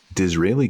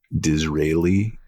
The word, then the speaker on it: Disraeli Gears: It's like Israel.